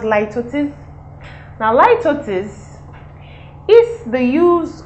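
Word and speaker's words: litotes: of metronomy the next one is ltis it's pronounced ltis now ltis is the use of a negative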